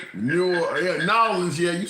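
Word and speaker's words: New Orleans: New York, uh, Miami, LA, uh, Texas, uh, Norins. Did I say that right? New. Yeah, Norins.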